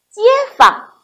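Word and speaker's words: 街坊: 方单独成字的时候，他读第一声方，和街组成词语，他读轻声，街坊。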